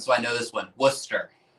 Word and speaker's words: Worcester: Worcester. It's not Worcester or Worcester. It's Worcester.